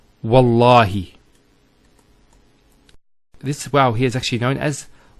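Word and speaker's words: والله: it, and we say, Wallahi. This waw here is actually known as waw al-qasm, the waw of swearing an oath. So when we put this waw, it's Wallahi, not Wa'allahi.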